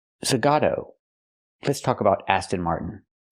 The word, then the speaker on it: Zagato: Aston Martin Zagata. What? Nice. It's not pronounced Aston Martin Zagata. It's pronounced Aston Martin. Zagato.